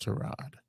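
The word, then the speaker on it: Tyrod: Giants started trod Taylor it's pronounced trod and I don't think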